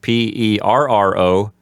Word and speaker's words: perro: Okay, as I said before, perro, P-E-R-R-O, since it has two R's, the R's have to be rolled stronger and longer. So it has a stronger rolled R sound, perro.